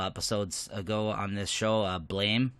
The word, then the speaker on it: Blame: ago on this show, Blame, or Blam, I think it's pronounced. I thought it was Blame just because of the way it's spelled.